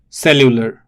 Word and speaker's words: cellular: find the word cellular i would look at the pronunciation it is a lieu lure so it's se liu ler and the stress falls on the first syllable it's cellular right cellular the form of